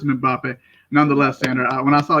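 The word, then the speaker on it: Mbappé: And before I keep going forward, I believe that Kylian's last name is pronounced Mbappe. If I'm wrong, the internet will correct me, but I'm pretty sure it's Mbappe.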